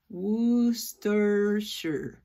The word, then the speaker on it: Worcestershire: Y así se va a pronunciar toda esta palabra tan grande. Termina en 3 sílabas. Worcestershire.